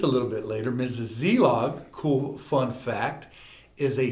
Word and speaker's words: Szelog: Zlog. I just love saying your last name, Zeog, and I've learned how to say it cuz the S is silent, right?